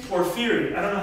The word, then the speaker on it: Porphyry: Porphyry. I don't know how you say it, if I'm pronouncing it correctly, but... Porphyry, yeah. Porphyry, yeah. In English, I guess.